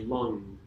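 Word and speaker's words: LAM: felt L AM but it's pronounced like lung like a long in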